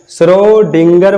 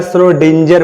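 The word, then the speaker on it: Schrödinger: आगे देखिए श्रोडिंगर wave equation, श्रोडिंगर भी प्रोनाउंस यूज किया जाता है, तो आप घबराइएगा नहीं, श्रोडिंगर बोले या श्रोडिंजर बोले, मीनिंग सही होना चाहिए।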